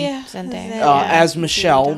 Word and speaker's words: Zendaya: Is that how you pronounce her name? Yeah. Zendaya.